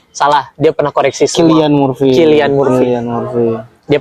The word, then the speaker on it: Cillian Murphy: Anjing, kenapa nggak Cillian Murphy gitu? Iya, cocok ya. Iya, Cillian Murphy harusnya. Bukan, salah. Dia pernah koreksi semua. Cillian Murphy.